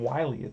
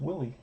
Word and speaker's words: Willie: I think I was calling him Wiley when I started the first week, and somebody had to teach me. Say, hey dummy, it's not Wiley, it's Willie. That's how you pronounce it.